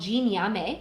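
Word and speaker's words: Gye Nyame: It's called Jin Yame, that's how you pronounce it.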